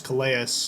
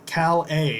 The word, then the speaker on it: Calais: I thought his name was Calais, but it is Calais is how you pronounce it, from Louisiana Lafayette.